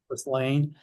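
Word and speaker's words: Ghislaine: Uh, what's how you pronounce Gelain Maxwell? I can't pronounce her name. Just lane.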